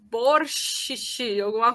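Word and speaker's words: борщ: Mas, na verdade, isso também tem origem na pronúncia antiga desse som, porque antes, realmente, até o século IX, a pronúncia literária desse som era sh seguido por t, né? Sh, como se fosse borscht, né? Hoje em dia, isso mudou.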